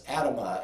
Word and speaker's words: Adamah: That's no coincidence, because in Hebrew the soil is called, and I'm not going to pronounce it correctly in the Hebrew, but it's Adamah, A-D-A-M-A-H in English letters.